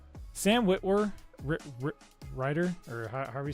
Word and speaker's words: Sam Witwer: Yeah, that's how you say it, Sam Witwer.